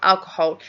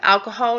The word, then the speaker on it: alcohol: Now, the thing with alcohol is that it does actually have 3 syllables. Okay, so we can't say alcohol. Yeah, we do that in Spanish. Alcohol, we actually completely ignore the H, don't we?